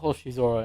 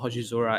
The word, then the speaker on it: Hoshizora: The kanji for Hoshizora is star and sky. Oh. Yes, Hoshi meaning star, and Zora, or sometimes pronounced as Sora, Mm.